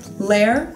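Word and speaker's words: L'eihr: you say this okay Lair rhymes with dare one syllable Alex Serene Aaron those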